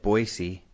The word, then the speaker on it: Boise: because Maureen went out to visit you and Boise and I don't know if you noticed and spacing out last week I said Boise I didn't notice that but good job dude